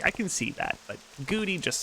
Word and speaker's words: Kagouti: I've heard someone pronounce it Kagouti, and when I heard that, I'm like, what is wrong with you? Kagouti? Gotta be Kaguti.